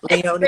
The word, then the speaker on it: Leonie: Is it Leonie or Leonie? I pronounce it with my southern accent, so it's Leonie. It's Leonie. very Okay, I slow think I and think you long. 100% get to decide how it's pronounced, Jesmyn Ward.